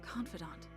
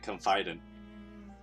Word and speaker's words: confidant: than his guard oftentimes i felt like his confidant that's how they pronounce it i've always been asleep confident but what do i know about pronunciating words